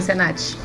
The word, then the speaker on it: Cenatti: uma super convidada tá a Caroline SENAT tô pronunciando certo sim certinho SENAT e assim nós colocamos